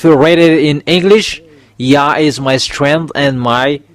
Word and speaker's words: Yah: It's yod and hey, it's called yah.